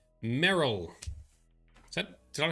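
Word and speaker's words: Merrill: who did i romance in dragon age 2 merrell so did i pronounce that correctly yeah meryl that's who we romanced i was hoping we'd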